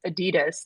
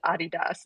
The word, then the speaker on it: Adidas: the time, which is Adidas. That's what we say, but the proper way to pronounce it is Adidas.